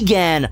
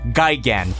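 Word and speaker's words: Gigan: me saying that no but B it's actually pronounced Gan no I watch final wars and I can confirm that it's pronounced Gyan the the main villain screams it Gan yeah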